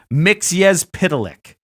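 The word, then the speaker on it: Mxyzptlk: oh here's here's how I just looked up how to pronounce it mix yes pitolic yeah oh God Mr mix yes pitolic yeah okay lick lick yeah mix yes pitolic it's a comic book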